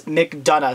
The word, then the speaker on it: McDonough: You can pronounce my last name like this, McDonough.